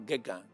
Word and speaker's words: Gauguin: A ver si lo pronuncio bien. Van Gogh. Van Gogh. Cézanne y Gauguin. Gauguin. Gauguin. No, Gauguin.